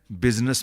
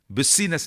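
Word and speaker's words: business: कहता है बिजनेस में यू की आवाज है, आई साइलेंट है। तेरी आवाज है, मेरी आवाज नहीं है। बिजनेस, बिस्सीनेस नहीं है।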